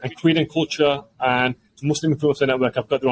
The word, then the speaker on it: MVSLIM: And Creed and Culture and Muslim Influencer Network, I've got their own websites. That's right. We have a third brand within our group as well called Muslim, spelled with a V, MVSLIM, which is a global digital publication.